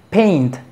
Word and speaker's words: paint: Por ejemplo, tenemos paint. ¿Cómo se pronuncia esto? Paint. Fíjate que suena la T.